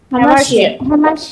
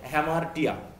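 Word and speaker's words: hamartia: হ্যামারশিয়া, আসলে এটা উচ্চারণ হবে হ্যামারটিয়া, তাই তো, হ্যামারটিয়া বা আমরা হ্যামারশিয়া বলি।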